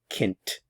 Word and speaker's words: Kind: child dint Das Kint notice the pronunciation of the D Kint Kint dint the child dint